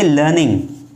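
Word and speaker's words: learning: अंग्रेजी में अधिकतर आर को साइलेंट रखा जाता है, तो इसीलिए आप यहाँ पे पढ़ेंगे लर्निंग।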